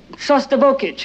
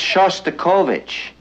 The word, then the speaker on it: Shostakovich: better be going uh we're hearing uh shic you know that's Shostakovich and since you're a musician it might not be a bad idea if you learned how to pronounce it Oh you mean Dimitri